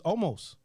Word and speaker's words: Olmos: No, it's not Amos. It's Olmos. Yeah. Yeah, he's fucking Mexican. Oh, okay. All right. You sure? Amos. No, it's not Amos. It's James Edward Olmos.